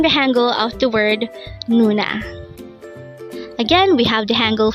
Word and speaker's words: 누나: NOONA. NOONA. This is pronounced as a two-syllable word. The first syllable is nu, second syllable is na. Pronounce it with me. NOONA.